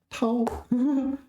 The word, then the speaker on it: 掏: Tao is first tone, is it? Tao.